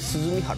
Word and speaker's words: 涼原: これ鈴見原と読みするんです